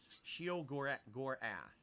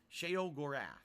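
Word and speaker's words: Sheogorath: Shio Gorath. It's not Gorath, it's Gorath. Okay. Sheo Gorath. Got it. Sheo. It's not Shio, it's Sheo.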